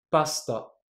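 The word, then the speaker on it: パスタ: C'est un peu comme si j'avais juste prononcé le s. Et du coup, pour vous indiquer que dans le cas de cette mort précise, on ne va pas prononcer la voyelle, je vous l'entoure. Voilà, ça veut dire qu'on va juste prononcer le s. Écoutez bien, pasta.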